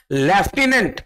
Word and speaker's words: lieutenant: दूसरा word लेफ्टिनेंट, लेकिन एफ है ही नहीं उसमें, LIEUTENANT, लेफ्टिनेंट।